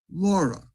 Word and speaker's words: LoRa: transmission signal called and here's the pronunciation laura it's for long range and it uses the